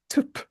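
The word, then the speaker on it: twp: The Welsh word is tup, which is spelled, it's almost impossible to say, tup, which is spelled TW with a little accent on it, P. No vowels allowed.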